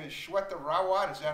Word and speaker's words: Shweta Rawat: Her name is Shweta Rawat.